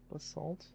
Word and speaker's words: basalt: Basalt? How do you pronounce it? Basalti. I don't know. I would assume basalt. Like bath salts, but without the extras.